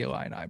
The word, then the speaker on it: Illini: 7.5 for the Illini, Brad.